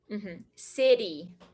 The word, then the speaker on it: city: city american pronunciation water city so what are we talking about today this is called the flap t can you say that flap tea the tip of your tongue goes up stays and then comes down